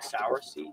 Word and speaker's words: cerasee: Sarah Cerise c-e-r-a-s-e-e okay but it's pronounced like soursie I think I think